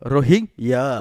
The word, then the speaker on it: Rohingya: How to pronounce eh by the way? Rohingya.